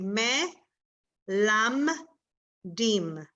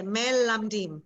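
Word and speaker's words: מלמדים: And then lam, and the second one, it will be silent. So it will be me, lam, dim. Okay, you get that? Me, lam, dim. So could you pronounce that word all at once rather than just syllable after syllable? Okay, melamdim, melamdim. Mhm. That's how I would pronounce it, melamdim.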